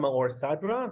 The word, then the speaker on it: Maor Sadra: So I'm Maor Sadra. That's how you pronounce my name.